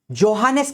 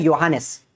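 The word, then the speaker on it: Johannes: चलो इसी के साथ-साथ फिर आते हैं हमारे योहानस केप्लर। वैसे जे है स्टार्टिंग में लेकिन उसका प्रोनाउंसिएशन होता है योहानस।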